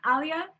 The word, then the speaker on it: Alya: yeah then how do you say your name alia yeah okay oh yeah oh yeah if you